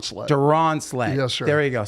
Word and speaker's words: Duronslet: in front of hundreds of people sure Duran sled yes sir did I say your last name right that was that close enough just say it say it correctly donet donet sir there you go sorry oh you're